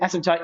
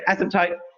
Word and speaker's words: asymptote: that people always uh often mispronounce Eric yep asymptote and you pronounce it properly yeah asymptote so we have a horizontal asymptote right the